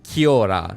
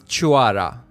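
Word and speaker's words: Cioara: And even in the game, they pronounce it Chiora, and I even saw other people pronounce it at Chiora. But that is a Romanian word, in fact, and the correct pronunciation is Chuara.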